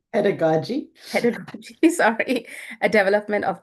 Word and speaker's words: pedagogy: recent work has focused on evidence-based um I don't know how to say this pedo how do you say that padogi pedagogy pedagogy sorry a development of doctoral students and uh innovative mentoring strategies her book teaching psychology and evidence-based approach with co-authors Dr.